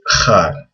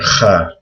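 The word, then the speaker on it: خاء: And this is also hard to pronounce, but people usually write a KH for Kha. It's similar to, like in Hebrew, people say Chanukah. It's the exact same sound in Arabic.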